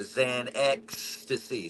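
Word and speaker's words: Xanstasy: So, a Zancasy. So, just say ecstasy and put a Xan on the front of it.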